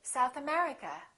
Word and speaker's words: South America: If the place has two words, we stress the second word. For example, South America, we say South America. United Kingdom, we say United Kingdom.